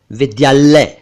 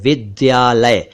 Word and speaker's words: विद्यालय: और विद्यालय कहते हैं मतलब या तो वो ध बोलते हैं द की जगह या ल को डबल कर देते हैं दोस्तों ऐसा ना करें यह गलत है सही उच्चारण है विद्यालय विद्या प्लस आलय विद्यालय इसी से बना है